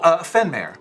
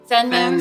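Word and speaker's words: Fenmaer: Oh, Fenmare. Fenmare. Fenmare, yes. How you, I'll spell it.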